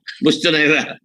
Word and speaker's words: Bustonera: nata si Attorney Bustonero. Ano ba? How do I pronounce this? Bustonero? Bustonera. Bustonera. Bustonera, Mr. Chair.